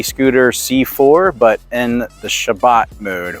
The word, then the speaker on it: Shabbat: C4 but in the Shabbat mode or the correct way to pronounce it is shabas mode and uh if if